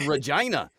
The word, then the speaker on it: Regina: what it rhymes with it rhymes with vagina it's called Regina I'm tired of people